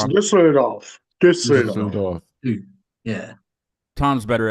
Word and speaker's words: Düsseldorf: Arriving home is with me from Dusseldorf. That's probably probably not saying it right. You got it, It's Tom. Düsseldorf.